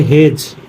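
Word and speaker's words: hedge: Next is, क्या लिखा है, एज, ये पढ़ेंगे हेज, इसे पढ़ेंगे जज। नेक्स्ट है ई कब साइलेंट होता है।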